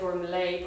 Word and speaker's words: Gormlaith: Gormlaith. I know you're supposed to pronounce it like Gormlay, but she definitely was Gormlaith.